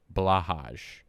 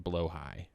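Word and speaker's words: Blåhaj: Are we familiar, chat, are we familiar with a blahaj, or as it is actually pronounced, blowhigh?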